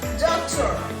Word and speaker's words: doctor: Muy bien, continuamos con doctor. Hay que hacer un énfasis como si fuese una palabra grave.